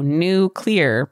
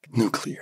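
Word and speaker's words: Newclear: a punny name uh it's spelled NE ew c l e a r so new clear but it's when you say it fast it sounds like nuclear nuclear and basically what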